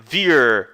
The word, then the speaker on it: wir: As letras I, R não é ir, não é wir, não, é wir. Wir. Você pode até imaginar que tem um R bem suave aqui no final, tá? Que nem um carioca falando ar.